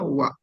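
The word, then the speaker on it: は: Tulisannya H, tapi dibacanya wa.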